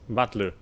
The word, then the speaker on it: Battler: The problem is my given name. Something is made up of characters for fight and person and is pronounced Battler.